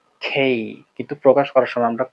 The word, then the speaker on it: K: এরপরে যেটা আসে, এটাকে আমরা কে বলে থাকি। মাথায় রাখতে হবে কে না। এবং এটাকে শুদ্ধভাবে যদি উচ্চারণ করতে চাই, তাহলে আমাদের বাংলায় ওই বর্ণমালাই নাই প্রকাশ করার মতো। এটা ক এবং খ এর মধ্য থেকে আসবে এবং এটাকে যদি আমরা বলতে শুদ্ধভাবে বলতে হবে খেই খেই খেই।